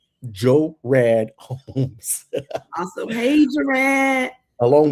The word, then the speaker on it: Gerard: every syllable. Joe Rad Holmes.